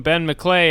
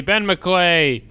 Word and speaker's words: Ben McLeay: Please welcome Ben McClay, everybody. Ben McClay. And that and his name rhymes with G'day.